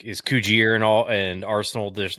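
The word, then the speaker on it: Cugir: Coogere. I always as someone who's been to the factory, it's Coogere.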